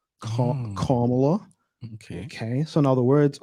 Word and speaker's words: Kamala: Some people call her Kamala, but it's actually pronounced Kamala. Kamala.